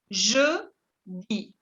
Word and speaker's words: jeudi: Jeudi. Jeudi. La EU se prononce E.